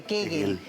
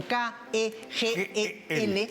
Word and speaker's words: Kegel: kegel Y estos ejercicios nos permiten fortalecer esa hamaca